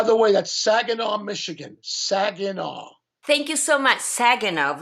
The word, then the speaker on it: Saginaw: Saginaw.